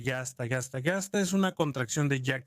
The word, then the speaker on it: Jasta: Las jastas, donde se escribe yasta, es una contracción de Jack Staffel, literalmente escuadrón de casa.